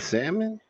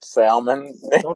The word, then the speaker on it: salmon: we got the vegetables you pronounce the L and salmon hey man hold up don't do that man salmon yeah yeah that's like